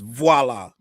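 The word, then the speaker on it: voilà: They say, Charles, stop saying voila. It's voila. Say it like you French.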